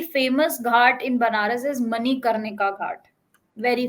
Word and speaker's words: Manikarnika: Can you pronounce again for me? It's Manikarnika.